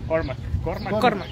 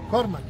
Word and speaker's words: Cormac: Cormac. Cormac. Un grandote. Como mayonesa McCormick, como así más o menos.